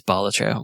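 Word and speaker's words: Balatro: it any way you want but the official pronunciation is bolatra which which I don't really I don't really like that it's pronounced magic the gathering.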